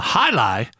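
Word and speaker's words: jai alai: as in adolescent uh high lie which of course is spelled j-a-i new word a-l-a-i which is a sport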